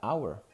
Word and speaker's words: hour: Otra cosa muy importante, hay letras en inglés que son mudas, como la H en hour, ¿no? La palabra hour, la hora, la H no se pronuncia.